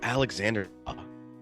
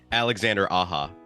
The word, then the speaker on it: Alexandre Aja: I think it's Alexandre Aja, is how I've always said it. Say it again. Alexandre Aja. So not like the Steely Dan album. Not Asia, yeah.